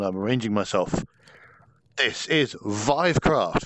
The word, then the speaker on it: Vivecraft: arranging myself this is vivecraft VI rhymes with five supposed to VI which is what I have been saying which is wrong uh I have run